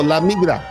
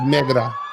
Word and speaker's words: la migra: La migra. Keep mispronouncing it. La, y'all. No. La migra. La migra. La migra. La migra. Not mera.